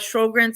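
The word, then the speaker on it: Sjögren: always have a hard time saying it but shogren as well those are a couple of autoimmune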